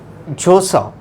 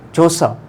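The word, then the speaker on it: Vjosa: Her name is here Josa, V is silent here, Josa Osmani Sandriu.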